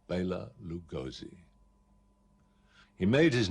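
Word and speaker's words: Bela Lugosi: a central european actor his name was bayla lugoshi now that's the correct way of pronouncing it but that was probably a little bit too much for people to take and so he became immortalized under the name of baylor lugosi he made his name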